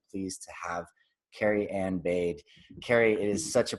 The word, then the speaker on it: Baade: It's Baade, but you know, I also didn't fix the pronunciation of that, so it's good. But it's like Baade, like bada bing.